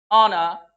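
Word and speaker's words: honour: जहां नहीं होगा वहां हमने आपको ये वर्ड्स लिखा दिए हैं, बता दिए, आवर, ऑनेस्ट, ऑनर, एयर।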